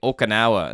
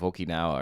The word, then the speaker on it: Okinawa: you know clicking how many times I say okanawa instead of Okinawa or something right there's always one of those